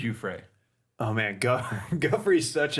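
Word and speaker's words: Giuffre: wrong forever then yeah I was always gone with Guthrie it's you Frey oh man God Guthrie's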